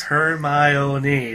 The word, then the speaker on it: Hermione: Hermione, but you say it fast.